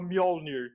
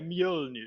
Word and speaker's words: Mjølnir: Aquele Ø, que tem um risquinho, ele tem a mesma pronúncia do som vogal que a gente faz quando fala bird. Então ele é Ø. E o nome do aplicativo tem essa letra. Então eu falava Mjolnir e é Mjølnir.